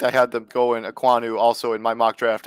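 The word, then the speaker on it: Ekwonu: pronounced it right earlier. Aquanu.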